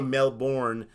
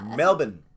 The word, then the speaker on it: Melbourne: We say Melbourne, but Melbourne is how you pronounce it. So you ignored the R.